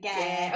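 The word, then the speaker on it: Geir: Just G-E-I-R. I can't say it like I don't know, like Well, I was thinking like air, like air. Yeah, okay. So I just say Gare. Okay, Gare, yeah.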